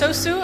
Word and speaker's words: SOSU: the name yeah so sosu actually has um the name means sauce in Japanese how do you pronounce this s sosu it's sosu with a dash across the O Okay um and we